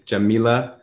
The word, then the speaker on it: Yamile: um i want to make sure that i'm pronouncing your name correct again it's jamilah jamunja right yeah yeah um is there a